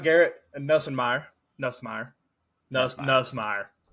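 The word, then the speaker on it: Nussmeier: Nus Nusmeer said it right.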